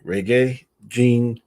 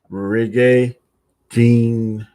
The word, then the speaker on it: Regé-Jean: It's spelled Reg-Jean Page. To me, it looks like Regé-Jean, but it's called Regé-Jean. Regé-Jean Page.